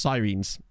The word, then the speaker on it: Sirens: that game oh yes so it's actually pronounced sirenes apparently which I will still end up calling them sirens a lot just cuz